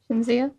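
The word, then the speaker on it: Cinzia: It's spelled C-I-N-Z-I-A. Chinzia?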